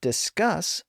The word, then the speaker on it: discuss: s's at the end and that's because discus puts the stress on the first syllable so a single s is fine at theend end but discuss puts the stress on the final syllable and since it's pronounced